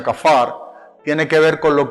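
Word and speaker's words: כפר: hebrea que viene acá para acá pero se pronuncia kafar tiene que ver con lo que es cubrir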